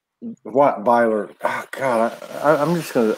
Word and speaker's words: Beiler: Susie from Sedona, Beiler. What Beiler?